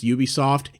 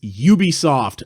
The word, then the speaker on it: Ubisoft: know how to pronounce Ubisoft it's Ubisoft not Ubisoft their name is a combination of the words ubiquity and software look it up you